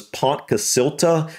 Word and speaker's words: Pontcysyllte: the best version I could come up with was Ponca silta I think that's pretty close but considering this is a Welsh word I'm sure I may be off a little bit on the pronunciation